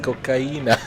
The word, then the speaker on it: cocaína: And Joseph Lesh says to say cocaine in Spanish is cocaína, pronounced cocaína.